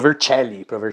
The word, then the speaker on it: Vercelli: Então, tipo, aí ele tá lendo com a pronúncia do português, né? Mas é Pro Vercelli, que dá tipo um tique.